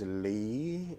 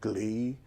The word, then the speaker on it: gli: Words like GLI, you pronounce them as Lee instead of glee.